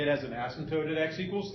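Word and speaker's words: asymptote: well those are called ASM tootes and that is spelled a ym p t o t e ASM toote so if you were asked to list the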